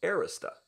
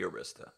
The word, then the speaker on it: Arista: Now, a number of people have pronounced that Arista. I guess that's fine. Again, pronounce it any way you like, but how I would pronounce that would be Arista. Arista as in Don, Ulrich as in Don, that kind of thing.